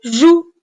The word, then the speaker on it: joues: encore une fois attention les deux lettres cette fois-ci E et S avec lesquelles le verbe jouer se termine sont muettes muettes c'est-à-dire en les voix mais on ne les prononce pas E et S tu